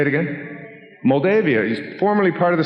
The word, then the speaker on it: Moldavia: Moldavia is formerly part of the Soviet Union.